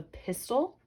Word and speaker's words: pistil: carpel it's called the pistil now be careful this is not pistol like pew pew pistol that kind of pistol has spelled P is tol this kind of